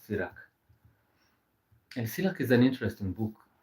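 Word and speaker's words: Sirach: So, s i r a c h. That is the spelling of sirak.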